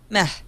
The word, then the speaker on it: meh: when people mispronounce it it's got an H at the end meh yeah exactly it's not